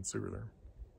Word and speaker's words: Sigurður: I like that because, of course, the letter eth stands for a TH sound. So transliterating Sigurð instead of Sigurd is actually closer to the Old Norse pronunciation Sigurður.